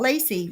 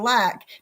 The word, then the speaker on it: Lac: Because I didn't know how to pronounce his name, L-A-C. I thought Lacey, right? And he said I was homophobic for calling him Lacey instead of Lack.